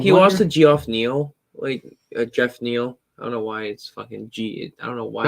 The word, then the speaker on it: Geoff: But he lost to Geoff Neal, Jeff Neal.